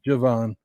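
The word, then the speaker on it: Jevon: It's not Devon, it's Javon.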